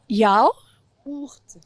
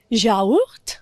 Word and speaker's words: yaourt: prononce différemment mais là tu peux séparer les deux premières enfin la première et la deuxième syllabe je tu peux il y a combien de syllabes tu peux prendre la première du du ja ya ya ourt yaourt du yaourt du yaourt